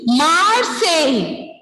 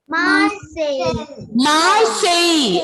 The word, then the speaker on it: Marseille: Ensuite, the third one pronunciation is Marseille. Marseille. L will be silent.